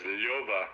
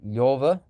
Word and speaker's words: Lyova: yeah, So I would probably pronounce it as Lyova with the yaw with the two dots over the e.